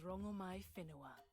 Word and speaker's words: Rongomai Whenua: My name is Rongomai Whenua. Rongomai Whenua. That is different from what we were saying.